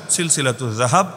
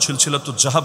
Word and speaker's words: সিলসিলাতুয যাহাব: আমি শুনিয়ে দিচ্ছি, বইয়ের নামের অংশ হিসাবেই লেখা আছে সিলসিলাতুজ যাহাব। আপনার মতো বা জাহাব না, সিলসিলাতুজ জাহাব না, এটা তো উচ্চারণটাও শুদ্ধ করে করা যায়, সিলসিলাতুজ যাহাব ফিমা রাওয়াহুল ইমাম আশ-শাফিঈ আন মালিক আন নাফি আন ইবনে ওমর।